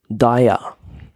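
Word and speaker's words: Daiya: I said a taxi service which was named Dia which is spelled D AI ya um like I said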